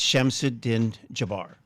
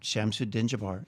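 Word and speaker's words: Shamsud-Din Jabbar: I've never heard it pronounced because I don't watch the news, but I believe it's Shamsuddin Jabbar. Okay. After Jabbar, but Shamsud, SHAMSUD-DIN, Jabbar, JABBAR. Okay, so I searched his name and I put everything in quotes.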